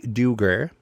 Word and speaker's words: duergar: the new race uh, and that is the duergar.